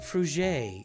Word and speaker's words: Fruget: Your last name is pronounced Fruget. It's French.